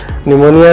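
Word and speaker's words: pneumonia: निमोनिया में P silent होता है, ध्यान रहे।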